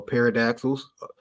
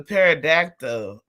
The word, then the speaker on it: pterodactyl: But anyways, the pterodactyl is you want to call it's either a pterodactyl or a pterodactyl. You pick because one of them consonants is silent.